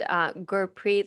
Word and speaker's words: Gurpreet: So please tell us a bit about yourself, Gurpreet. Yes. So If you don't know me, for one, my name is pronounced Gurpreet, like pretty.